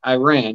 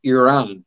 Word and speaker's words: Iran: I'll tell you what, I just recently learned, a lot of people pronounce it Iran. It's actually Iran is the way you're supposed to pronounce it.